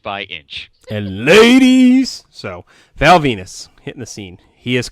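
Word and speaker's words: Val Venis: get a vignette for Val Venus rhymes with penis new uh new character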